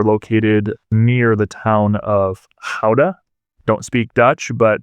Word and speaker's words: Gouda: This dairy was notable because they were located near the town of Gouda. Don't speak Dutch, but that's the Dutch pronunciation of Gouda. And you think of Gouda cheese that you might buy at the grocery store.